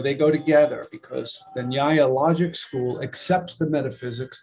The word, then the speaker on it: nyaya: And nyaya, like nya-nya-nya-nya-nya-nya, nyaya, followers of nyaya are, by the way, are called nyayikas or nyayikas, is the logic school.